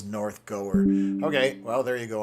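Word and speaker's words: North Gower: So, uh, Jason, oh, your first pronunciation is correct. The W is not pronounced. So, it is northgoer.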